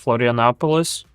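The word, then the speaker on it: Florianópolis: A guy was like showing an apartment in Florianopolis. Is that what it's called? Oh yeah. Yeah, it's where I live. Is that how it's pronounced? Florianopolis? Yeah, yeah, you're right on the Florianopolis?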